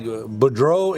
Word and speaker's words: Boudreaux: It always just like Boudreaux and Boudreaux. Oh, We put the emphasis on the first part, and in other parts of the country, they put the emphasis on the last part of the name.